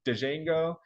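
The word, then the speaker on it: Django: me uh this one everybody pronounces the D out front so it's dejango and then PG Bouncer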